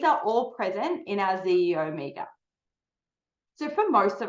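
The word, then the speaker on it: xEO: And I know it says XE Omega, but it's pronounced ZEO Omega.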